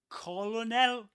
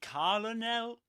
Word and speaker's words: colonel: How do you pronounce it? Is it Colonel? Is it Caronel?